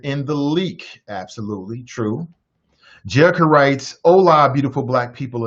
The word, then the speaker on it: Jerica: Jerica writes, hola, beautiful black people, and the others too. She writes, it's pronounced like I dream of Jeannie. There is no I in my name.